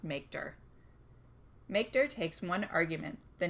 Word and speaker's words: mkdir: To create a new directory, use the “mkdir” command, which I usually pronounce “makedir”.